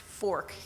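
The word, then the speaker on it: Forcht: accepted a position with fork bank as a commercial banker just this past april fork is spelled f-o-r-c-h-t but it's pronounced fork case case you've ever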